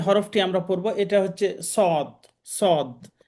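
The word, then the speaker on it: صاد: উচ্চারণটা এখানে দেওয়া আছে সদ জিহ্বার আগা সামনের নিচের দাঁতের আগা থেকে শীষ সহ মোটাভাবে আদায় হয় মোটাভাবে উচ্চারণ করতে হবে সদ জিহুবার আগা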